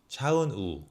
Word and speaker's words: 차은우: 차은우. 우. Not a wu. 차은우.